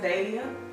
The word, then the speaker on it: dahlia: So with the flower there, it's actually pronounced Dahlia, and it's a flower it's from Mexico.